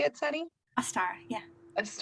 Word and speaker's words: Ostara: Ostara, yeah. That's not Ostara. how you would pronounce it.